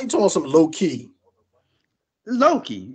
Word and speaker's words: Loki: Loki, ain't that how you pronounce it? Now you're saying it right. Before you didn't say that. You made it seem like it was two words, like Lowkey.